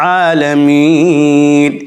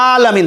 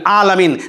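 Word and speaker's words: العالمين: রহমানির রহিম, আলহামদুলিল্লাহি রাব্বিল আলামিন। এই যে আলামিন, দেখেন এখানে কিন্তু এক আলিফ টান হবে এবং গলার ভিতর থেকে, গলার মাঝখান থেকে হবে আইনের উচ্চারণ। কেউ যদি পড়ে আলহামদুলিল্লাহি রাব্বিল আলামিন তাহলে কিন্তু হবে না।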